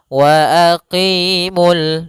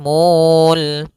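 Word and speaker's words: وَأَقِيمُوا: wa aqimul dan tidak boleh mul karena di sini wnya tidak dianggap lagi.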